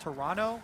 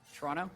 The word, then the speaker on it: Toronto: I was told actually by a tweet, it's pronounced Toronto with no T. Oh. Yeah. Today I learned. Toronto? Maybe someone else. Jack? You're Canadian. How is it? Canada's is it first Toronto?